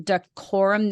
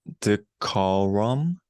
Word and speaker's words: decorum: So you want to try pronouncing decorum? There's the exact pronunciation. Okay. Decorum. Yeah. And if you kind of go syllable by syllable, so Da. Cor. Rum. Decorum. Decorum.